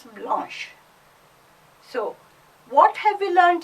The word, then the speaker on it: blanche: Even the pronunciation changes. Blanc becomes blanche.